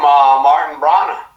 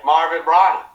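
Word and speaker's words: Marvin Branagh: From Martin Brana, right? Marvin Brana. Yeah. I said Martin.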